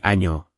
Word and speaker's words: año: Un aviso rápido sobre pronunciación de ñ. No es ni. Por ejemplo, año no es año. Levanta la lengua hacia el paladar y di año, con un sonido suave.